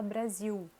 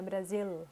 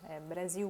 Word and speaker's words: Brasil: no final da palavra então por exemplo a gente fala brasil não é brasil brasil um ou a outro